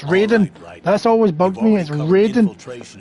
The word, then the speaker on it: Raiden: snake just a precaution you are now designated Ryden it's pronounced Raiden that's always bugged me